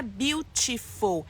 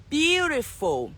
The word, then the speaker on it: beautiful: forma que ela fala não é beautiful é beautiful você vê esse ti a gente aqui A gente não pronuncia ti ti é sempre como se fosse um som de Beautiful Beautiful Então é isso